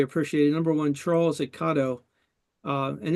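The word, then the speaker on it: Kato: Number one, Charles at Cato, and this is the first time that I've said it right. I've always said Cato, but we're using their 11109 drives in our little ON18 engines.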